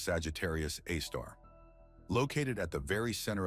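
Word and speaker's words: Sagittarius A*: The Milky Way, our home galaxy, is home to an immense black hole that has earned the name Sagittarius A, pronounced Sagittarius Aar.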